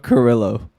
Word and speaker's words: Carrillo: Name one more time so I could try to pronounce it right. Humberto Carrillo.